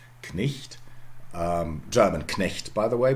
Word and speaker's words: Knecht: Try to pronounce it, Knecht. Knecht.